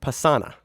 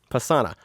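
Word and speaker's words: Pessanha: dm me and go hey maine you keep saying her name wrong that's not her name gabrielle pasana pasana my bad guys just i was like is there an eye there somewhere nope nope i've said her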